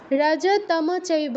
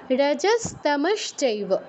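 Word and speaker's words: রজস্তমশ্চ: চেকে উচ্চারণ করবেন না রাজাতম চৈব বলবো না কিন্তু এই অভ্যাস অনেকের আছে যে সটা যুক্ত থাকলে সটা আমরা স্কিপ করে যাই এটা করলে হবে না রজস্তমস চৈব রজতম চৈব কেউ বলবো না রজস্তমস রাক্ষে নারায়ণী সদা দুটো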